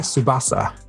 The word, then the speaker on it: Tsubasa: Tsubasa.